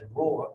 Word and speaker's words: rho: is how you pronounce this one this is pronounced as row or rho the symbol looks like a p it's pronounced